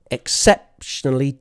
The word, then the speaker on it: exceptionally: exceptionally talented exceptionally talented when you have a lot of syllables it's helpful to clap the strong syllable exceptionally talented exceptionally talented exceptionally talented notice we don't really mind about the quality of unstressed syllables so sexually so exceptionally talented the important part is septal exceptionally talented okay number